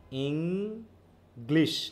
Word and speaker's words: English: ইং গ্লিশ তাইতো হচ্ছে ইং এর উপর ফোর্স আর গ্লিশ হচ্ছে ইং ইং ইং ইং